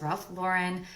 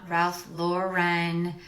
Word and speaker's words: Ralph Lauren: It's Ralph Lauren, not Ralph Lauren.